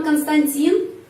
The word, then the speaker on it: Константин: Terus di sini dalam Konstantin di sini penekanannya pada huruf I. Karena itu huruf O ini lagi dibaca A.